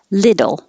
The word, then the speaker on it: little: water bottle of water little same thing the t changes to a d and the first part is li as in hit the same in bit